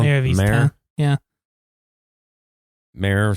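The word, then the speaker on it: Mare: Mayor spelled like a horse, not like the actual mayor.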